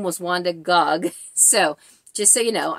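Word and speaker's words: Gág: of her before because it looks like G A you would think gag but it's Gog they told me when I went in her home that her name was Wanda Gog so just so you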